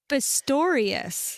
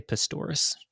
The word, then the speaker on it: Pistorius: came from Boris pastoris great name Pistorius yeah well I like to say pistus it Rhymes no I know no be polite Dave's listening his name you got it wrong yeah yes my Uncle